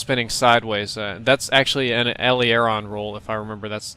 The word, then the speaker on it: aileron: That's actually an aileron roll, if I remember. That's how we pronounce it.